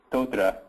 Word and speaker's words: Totara: relationship to mahara yeah so uh the proper pronunciation is totra and it's a a Mari word mahara is